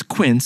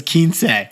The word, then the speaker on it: Quince: Now, the name of the brand is Quint, which is short for quintessential as opposed to kiniera, which Jack thought it was short for. I totally mispronounced it. I thought it was kins.